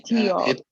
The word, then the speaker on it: luteal: the faces, the pronunciation of the faces, follicular and Okay, luteal.